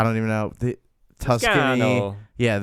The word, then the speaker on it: Toscano: Toscano. Yeah, You got to say it like that.